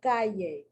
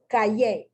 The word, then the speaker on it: calle: The correct pronunciation, calle. With the accent incorrectly placed, calle.